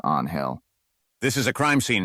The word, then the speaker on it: Angel: you is Angel Gomez she pronounced his first name with a hard J sound Gomez winced he stepped forward holding out his hand i'm detective Angel Gomez he said correcting the pronunciation to on hell this is a crime